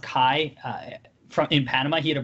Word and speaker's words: CAI: I was worried about them offensively, and Brownie has really stepped up after transferring from CAI, I think it's pronounced Kai, in Panama.